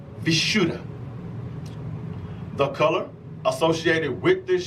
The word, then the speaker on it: Vishuddha: be the throat chakra the sanskrit word is pronounced vishuddha the color associated with this chakra is going